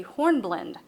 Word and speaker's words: hornblende: in lab would be hornblende the e is silent horn blend is also